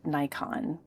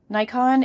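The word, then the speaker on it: Naikan: And I'd like to carve out some space for a lesserk known approach called Nikon. Nikon is a gratitude practice that emerges out of purand Buddhism.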